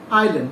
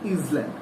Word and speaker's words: island: Next 6 number হচ্ছে Andaman এন্ড Nicobar আইল্যান্ড, ISLAND, সেটাকে বলা হয় আইল্যান্ড, নট ইসল্যান্ড। ঠিক আছে? যেটাকে এসটা এখানে সাইলেন্ট, মানে আমরা মনে মনে বলবো, সেটা আমরা মুখে প্রকাশ করবো না, এটা উচ্চারণটা। Its capital is port Blair,